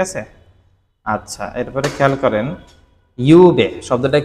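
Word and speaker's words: 夕: এমনি শব্দটার অ্যাকচুয়াল উচ্চারণ হচ্ছে ইউ, শব্দটার অ্যাকচুয়াল উচ্চারণ কি ইউ।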